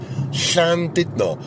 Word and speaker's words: Llandudno: Now, did you notice I said Llandudno, which is the Welsh pronunciation, not Llandudno, as a lot of people say.